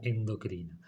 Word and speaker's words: endocrina: glucagón principalmente aclaro algo nosotros pronunciamos mal las palabras porque se escriben sin tilde es decir que esta palabra debería sonar exocrina y esta palabra endocrina porque no lleva acento escrito ninguna de las dos eh Bueno espero que